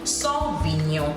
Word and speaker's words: Sauvignon: And I have the other one, which would be Sauvignon Blanc. Sauvignon Blanc. Once again, we don't concentrate on the N-O-N, Sauvignon, which is N-Y-O-H, Nyon, has a high and low, high and low. Sauvignon, so it's not Sauvignon, Sauvignon Blanc.